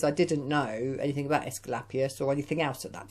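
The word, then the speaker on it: Asclepius: you can't say his name his name is escalapius i'll say that again escalapius now this particular dragon uh he has his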